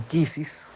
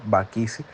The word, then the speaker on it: bakisi: hablar en plural Okay no se dicen quisis sino bakisi eh Son son fundamentos